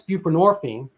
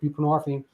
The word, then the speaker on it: buprenorphine: But to be fair, Suboxone came along, and that's buprenorphine, and people are like, what is that? Well, I mean, the hint is it rhymes with morphine, which is derived from